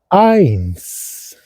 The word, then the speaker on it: eins: significativo del lenguaje alemán, que siempre cuando viene una E seguido de una I, se mezcla, se amalgama ese sonido en uno y se dice ay, como en español el A con Y, ay, pero es un